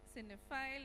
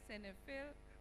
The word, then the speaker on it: cinephile: Rajiv is a sinful a cinephile or send a fail it can be pronounced in two ways in two different parts of the world enthusiastic about Fitness he